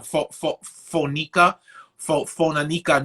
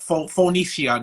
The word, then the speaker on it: Phoenicia: I can't even pronounce the town. Phonica, Phonica, New York. Phoenicia, New York. Phoenicia, I believe it's that.